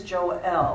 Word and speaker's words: Joelle: And her name is Joelle. I was saying it wrong.